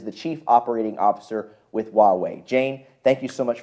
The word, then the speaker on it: Huawei: American audience to get a feel for who Huawei is okay well Jonas thank you for pronouncing it correct you're welcome uh so Huawei